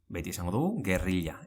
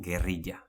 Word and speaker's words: gerrilla: bila, never biya Gerrilla: Gerrilla always say, never gerriya oilo: can be said